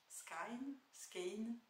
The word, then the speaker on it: Skein: Donc moi je dis The Woolly Skein. Skein, plutôt Skein d'ailleurs. Si je vais sur des audios anglais, en fait on dit plutôt Skein, The Woolly Skein.